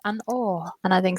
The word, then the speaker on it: An Oa: So it's An Or. That's how it's pronounced. An Or.